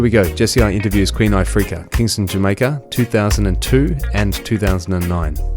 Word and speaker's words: Queen Ifrica: in Australia, we don't know often how to pronounce things. It's Queen Ifrica.